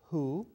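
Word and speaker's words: הוא: it, and a dot, and it's read hu. And here is an aleph that has no vowel. Aleph with no vowel is silent, you can't hear it, so this is read hu, just like this.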